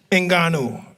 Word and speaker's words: Ngannou: Ngannou.